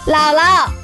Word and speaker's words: 姥姥: 老 third tone, but the second 老 will be pronounced as neutral tone. 姥姥 Bella, we are having a barbecue tonight.